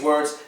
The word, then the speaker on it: word: When you're saying word, your lips are not protruding. Word. They just get a little tense, but they don't protrude. They just tighten up like when you make a muscle. They just get tense.